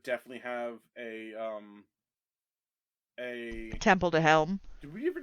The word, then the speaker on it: Helm: Helm. HELM. Like a helm. Like Helm. Like a helm. Okay. Like yeah, Helm's Deep, but without the Z deep.